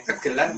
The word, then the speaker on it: gegelan: Tapi itu dulu jadi dasar bahasa bacanya benar gegelan ya, Mas? Gegelan atau gegelan sama aja keduanya. Kegelan atau gegelan sama.